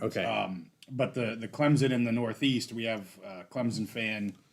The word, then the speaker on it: Clemson: neighbor is going to clemon Clemson so Clemson I gotta say it right Clemson uh and yeah that